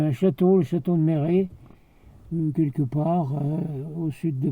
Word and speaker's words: Méret: Donc mon ancêtre, il est connu, hein, vous le retrouvez, courrier de Méret. Alors Méret, ça s'écrit, je crois, M-E accent aigu, R-E accent aigu, E, Méret, hein, c'est comme ça que vous le retrouvez.